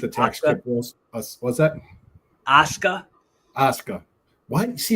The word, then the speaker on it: Asuka: But it's spel but it's it's pronounced Asuka.